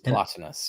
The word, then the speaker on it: Plotinus: Plotinus.